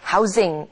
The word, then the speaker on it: housing: housing이라고 하지 않고 z 발음이 돼서 뒤에 ing가 붙은 바람에 housing 해서 어떤 주택 구입에